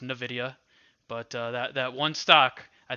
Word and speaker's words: Nvidia: I think it's pronounced Nvidia, but that one stock I think is just going to dictate what happens in the market.